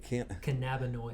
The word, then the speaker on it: cannabinoid: lot of the other, how do you pronounce it? Cannabinoid. Cannabinoids.